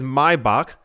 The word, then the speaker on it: Maybach: G G Class and I know how to say this in German but in English I assume it's Maybach in German it is my buck so I will say both the filings will include